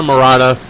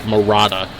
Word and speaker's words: Marotta: and it's Marotta, so I believe it's Marotta. So it's Jenna Marotta with Take It or Leave It right here on the Sportswire.